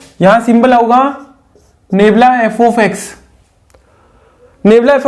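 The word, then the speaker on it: nabla: इसको आप नेबला बोलेंगे, ठीक है ना, प्रोनाउंसिएशन इसका नेबला होगा। और ये कहलाएगा थर्ड बैकवर्ड डिफरेंस।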